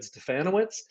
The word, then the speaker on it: Stefanowicz: So my name is Stefanowicz, rhymes with Bananowitz for all of you out there who need to know how to pronounce that long name.